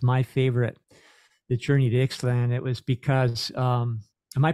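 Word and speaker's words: Ixtlan: You know, the one I mentioned that was my favorite, The Journey to Ixalan, it was because, am I pronouncing that properly?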